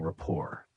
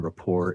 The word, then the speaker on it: rapport: Instead of saying they work well together, you can say they have a strong rapport. Pay attention to pronunciation. The T in rapport is silent.